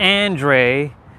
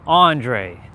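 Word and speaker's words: Andray: When they look at it without actually hearing it first, they'll say Andre, because of the way it's spelled, A-N-D-R-A-Y, Andre. My cousins call me that. It's annoying. It's not Andre, it's Andre.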